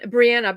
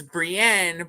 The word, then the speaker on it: Brienne: with yeah Brienne right it sounds like Brienne Brianna but it's it's Brienne but they called her it was something completely